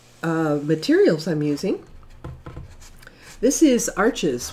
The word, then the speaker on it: Arches: This is Arches 140 pound cold press paper, or Arsh if you pronounce it that way.